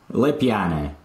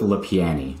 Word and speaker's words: LePiane: does it tell you les piana but we'll go with le piani le piani is about as anglicized as it can get okay so um